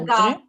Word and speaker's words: regarde: So hagahde as an EZ. अगर यहाँ पर EZ होता तब आप बोलते हगाहदे, या ER होता, ठीक है, तो आप बोलते हगाहदे. But this time this is E only. So you are going to say hagahd.